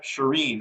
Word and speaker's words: Shirin: Yeah, it's the second half, Shireen.